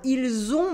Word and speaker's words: ils ont: Here you can notice that we have a liaison between in and on, and the T in on is silent.